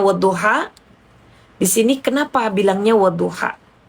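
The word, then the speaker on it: والضحى: Ingat ya, tadi saya sudah kasih tahu bacanya wadduha.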